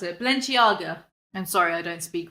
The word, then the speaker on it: Balenciaga: of her and bully her she bought a valencia valencia what how'd you pronounce it balenciaga i'm sorry i don't speak rich she bought